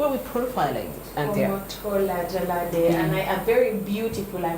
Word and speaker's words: Jalade: Okay, so her name is Omotola Jalade Ekinete. I think that's how the Nigerians pronounce it. Omotola Jalade Ekinete.